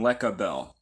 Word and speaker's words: Lecabel: the Divine cabal rud replaces the C with a K but it's still the same pronunciation lecabel so pretty consistent over